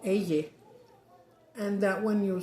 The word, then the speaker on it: ella: I think they start with a Y, and actually it's double L because it's pronounced y also. Like llámame, like call me. Llamar, call. As LL, that's LL. You don't say YA.